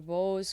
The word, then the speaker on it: Bose: Chandra Chandra which is Bo se like pose like the most durable